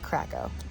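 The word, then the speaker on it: Kraków: She was from Poland. She called it Krakow. Okay, so Krakow.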